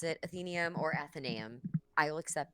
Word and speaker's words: Athenaeum: Athenaeum, like Athena.